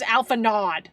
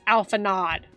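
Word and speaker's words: Alphinaud: His name is Alpha Nod. Okay, the voice actors pronounced it so. His name is Alpha Nod. Get out of here with your French pronunciations.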